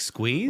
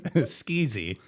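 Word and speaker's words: Sqzee: of the startup was s q z e e like squeeze like squeeze thank you but people pronounced ity skeezy skeezy which I think is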